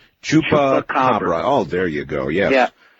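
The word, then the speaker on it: chupacabra: about about that what is it called the chuka cababra or it is my mission in life to get people to pronounce that correctly. Uh so follow me. Chupa chupa. Chupa cababra.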